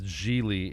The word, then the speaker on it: Gigli: Larry jeie yeah he he introduces himself as jeely it rhymes with reallyy like two times and